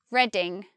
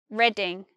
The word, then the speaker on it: Reading: This one is not reading, as in reading a book. This one is just reading, reading.